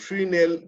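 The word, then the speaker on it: Fresnel: এটা উচ্চারণ করে এস টা বাদ যায়, ফ্রিনেল ডিফ্রাকশন।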